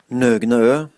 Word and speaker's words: Nøgnø: a Norwegian brewery called Nøgnø. And I think I'm pronouncing it right. Here's the official pronunciation. Nøgnø. So I think I'm close to that, I think.